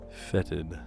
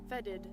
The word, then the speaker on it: fetted: Fetted. So funny. Well, the Google thing had it with like a D sound. Fedded.